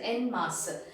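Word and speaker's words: en masse: and then in mass it is not n ma it is n mass now what is the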